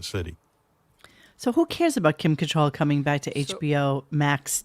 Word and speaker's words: Kim Cattrall: And then there was a whole big thing about Kim Cattrall. That's how you say her name. I always said Cattrall. That's how it's spelled.